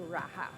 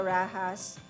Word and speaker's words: Raha: when the Spaniards came they started pronouncing it from Raja to Raha the Spanish way eventually the rahas were subjugated by the